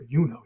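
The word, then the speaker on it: Iuno: at the U in the name Juno or yuno here and it's long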